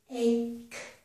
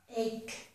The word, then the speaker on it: ache: With this word, this is another word that ends in the letter E, but the letter E is silent, so we do not pronounce it. This word is ache, ache.